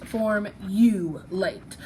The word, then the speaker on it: formulate: So whichever way you say the word, really, both ways are correct. But either way, you need to make sure that this U is an open syllable, because when we say the word, that U says its name, right?